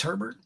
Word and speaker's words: Herbert: Herbert had is how do you say it's Herbert yeah Justin 25.45 for 297 one touchdown one